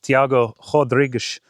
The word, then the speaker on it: Tiago Rodrigues: My irons are being a lot better, and it's because of a tip Tiago Rodrigues gave me.